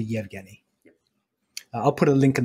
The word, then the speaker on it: Evgeny: And it's spelled Evgeny, but we pronounce it Yevgeny.